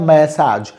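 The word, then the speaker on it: massage: Physiotherapy and physiotherapy means treatment by using exercise और मैसाज, इसका pronunciation होता है मैसाज।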